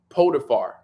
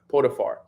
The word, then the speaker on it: Potiphar: So it continues and it says Joseph ended up in Egypt, working in the house of a man named Potiphar.